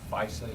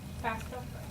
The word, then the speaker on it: FAFSA: I was going to ask you a question, really, but you answered it in your follow-up remarks about the FISA. Is that how you pronounce that? FAFSA. FAFSA.